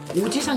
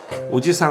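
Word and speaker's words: おじさん: "Ojisan" nghĩa là chú hoặc người đàn ông trung niên. "Ojiisan" nghĩa là ông. Vậy là phải phát âm "ji" dài hơn một chút à? Đúng rồi.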